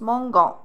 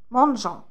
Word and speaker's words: mangeons: Ça se prononce mangan. بصح كي نحطوا ال E, ça se prononce mangeant.